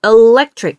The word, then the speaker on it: electric: 네, e라고 안 들리죠? electric. 으처럼 들리게 돼요. 이 정도로 약해지는 겁니다.